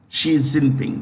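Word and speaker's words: Xi Jinping: is the first one equals look at that she is simping that's how you pronounce it she she zipping she's in pink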